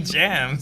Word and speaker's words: James: so now I love the way Jamaican people say my name James it's basically jams it's not bad yeah